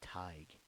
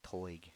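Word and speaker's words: Tadhg: But his name is pronounced Tig, like tiger, but without the ER, just Tig, or Ty with a G. And, I mean, if you're Irish, like the WWE wrestler Sheamus, you'll probably say Toig or something. But yeah, it's pronounced Tig, and the reason I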